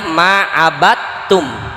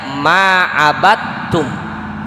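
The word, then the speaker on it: عبدتم: Nah, dibacanya ma'abatum. Tulisannya ma'abadtum. Dal ketemu tak tuh. Dibacanya ma'abatum. Itu disebut idgham mutajanisain.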